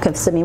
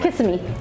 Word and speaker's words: Kissimmee: The correct pronunciation of Kissimmee is Kissimmee. It's Kissimmee, not Kissimmee. Kissimmee.